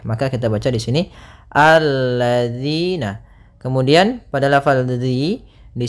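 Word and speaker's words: الَّذِينَ: kita baca di sini alladziina Kemudian pada lafal dzi di sini hati-hati dalam pelafalan Jangan dibaca alladina yang sering terjadi kesalahan adalah membacanyaal dengan Z kemudian di sini ada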